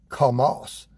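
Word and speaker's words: חמס: The Hebrew word is Hamas, spelled C-H-A-M-A-S. What's the terrorist group along where the Philistines used to be, the Gaza Strip? That's called, the terrorist group is called Hamas. Isn't that interesting? It's spelled, Hamas is H-A-M-A-S. This word is C-H-A-M-A-S. Hamas. I thought that was interesting because the Hebrew word for violence is Hamas.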